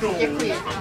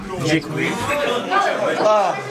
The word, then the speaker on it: děkuji: Děkuji. Děkuji.